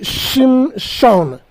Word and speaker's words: Shimshon: Ce mot a des syllabes. La première syllabe c'est Shim et la deuxième syllabe c'est Shon. Shim signifie petit, Shon en hébreu signifie soleil.